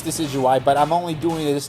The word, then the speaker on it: Decidueye: the starters the syrian deja do i i know i'm saying it wrong i'm doing it on purpose just to trigger everyone i know it's decidueye but i'm only doing